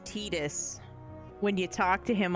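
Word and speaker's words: Tidus: This game also taught me the correct pronunciations for Tetus and for Yuthi. I can't believe his name's not Titus.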